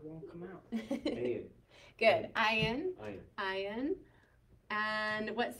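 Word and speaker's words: ע: Ayin. And what sound does ayin make? A. So ayin is actually one of our silent letters, especially if he has no vowel, he'll be silent, okay?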